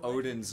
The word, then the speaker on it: Odin: uh is this why I point out that Odin has two syllables but yeah this